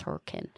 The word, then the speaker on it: Hurricane: saying hurricane I'm like it's not hurricane Jane it's hurricane for whatever reason so people that aren't from here we have a town called hurricane right and it's but it's spelled hurricane it's hurricane so what's funny is